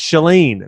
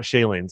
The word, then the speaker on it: Chalene: i want to apologize it's shalene not shaylene so chalene i'll answer to anything but yeah my my mom pronounces it chalene so i go with